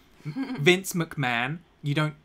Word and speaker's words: McMahon: likes wrestling he like you don't pronounce it makahon it's pronounced McMahon you know that right